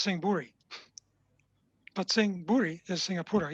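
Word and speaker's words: Sing Buri: we also have a singapora even but it's pronounced sing bhuri but singh bhuri is singapore yes i'm pretty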